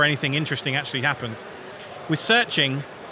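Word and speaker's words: SearXNG: of stuff selfhosted search there's an app called searching it's spelled seia like you see a stake and then xng okay it creates an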